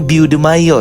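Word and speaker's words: Beau DeMayo: producer writer showrunner yaitu beo Deo atau cara bacanya be De Mayo ya ya pokoknya itulah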